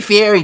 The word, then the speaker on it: Fieri: say huger Fury's name he a he Fieri that's the how you say his name and you see how